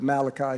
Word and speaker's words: Malachi: people call it Italian call it Malachi but Malachi is the proper pronunciation it says before the great and terrible